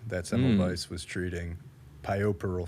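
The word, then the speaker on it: puerperal: simple device was treating pioparal fever which is spelled like poor Peril p-u-e-r right I I honestly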